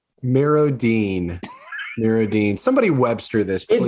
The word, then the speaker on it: MirrOdine: Mirrodine. D-I-N-E. D-I-N-E. You can't sound it out. English teacher would go with you, but Mirrodine.